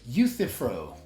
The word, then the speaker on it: Euthyphro: response would be the you feat pyro dilemma I'm not actually trying to pronounce it so it's pronounced the Euthyphro okay you see fern